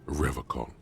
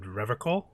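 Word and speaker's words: Revachol: He pronounces Revocol with a hard K, unlike other people. You said Revocol? I like to pronounce it the hard way. The old way. The Vespertine way.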